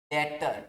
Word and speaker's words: debtor: डेटर। देखो spelling आप इसे मैं लिख देता हूं सही से, क्या कहते हैं उसको? हिंदी में कहते हैं देनदार और इंग्लिश में कहते हैं DEBTOR।